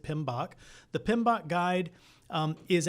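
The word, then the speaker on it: PMBOK: you've seen that before it's PM B we pronounce it pinok the pinok guide um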